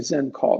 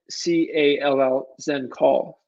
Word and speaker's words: XenCall: Again, it's with the X, so it's like a Zen Call there. It's called XENCALL, Zen Call.